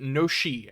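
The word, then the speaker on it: ノシ: Most people pronounce it no-shi after the reading of the Japanese letters used.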